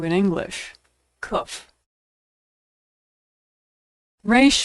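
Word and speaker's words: Resh: Re makes an R sound. Now, most Americans pronounce it like the R in road, but Israelis pronounce it as more of a guttural sound.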